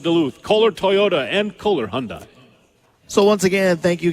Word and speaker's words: Hyundai: and it's easy way to remember how to pronounce it Hyundai Rhymes a Sunday yet Dave Cook loves to still say Hyundai cuz he's a fun guy I wrote Hyundai